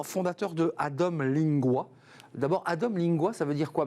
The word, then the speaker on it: Adom Lingua: Parce qu'on hésite à dire lingua et vous me dites c'est lingua. Non, c'est parfait, vous l'avez bien prononcé. Adom Lingua, c'est déjà un peu plus sympathique qu'Adom Linga, mais surtout, ça veut dire,